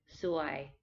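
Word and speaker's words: ซวย: is a rising tone so it's lower at first and it goes up like a question so why this one is a bit important to use the correct tone because suwai means beautiful but suwai means unlucky so if you call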